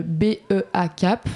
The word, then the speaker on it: BEA'kap: Euh, effectivement, on n'est pas le B E A CAP. Voilà. Donc, c'est important de c'est important de le prononcer.